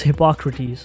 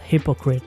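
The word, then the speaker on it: Hippocrates: most influential scholar was hypocrates you got to pay attention here it's hypocrates and not hypocrite one can easily mispronounce it and go down the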